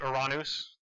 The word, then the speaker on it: Uranus: to these neptune and i say uranus that's the greek pronunciation that's the one i use uh then uh these